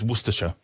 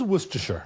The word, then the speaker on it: Worcestershire: into my amazing trap um it's worsher it is worsher worersher yeah um so so the worester part is right but you actually do say the the sure um certainly to me all all of the the uh the English Shia counties uh have a sh on the end.